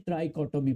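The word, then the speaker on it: trichotomy: ये थोड़ा प्रोनाउंसिएशन इसकी अजीब है नाइंथ क्लास के स्टूडेंट्स के लिए इसको पढ़ते हैं ट्राइकोटोमी प्रॉपर्टी।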